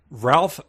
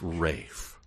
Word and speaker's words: Ralph: Pronounce his name again. Ralph Vaughan Williams. Please, we'll get letters. It's Rafe. Oh, okay.